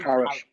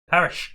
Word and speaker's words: Parrott: Troy Parrott. Yeah. Parish. Troy Parrott. Parrot. Oh, yeah. Parrot as in bird.